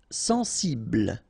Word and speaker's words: sensible: Sensible. Okay, final E not pronounced. Bl will be the last sound.